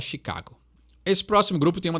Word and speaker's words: Chicago: gente costuma falar né em inglês o nome dessa banda é Chicago Então ela tem um pouquinho de diferença na e fala Chicago esse próximo grupo tem